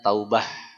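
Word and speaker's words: توبة: kita dalam mendefinisikannya tiib Taubat dalam bahasa Arab tulisannya taubatan ya dengan ta marbutoh sehingga bacanya Taubah ya dan kemudian ada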